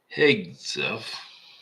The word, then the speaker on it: Hegseth: Okay, the our great Secretary of Defense, Peter Hegseth, I think that's how you pronounce it.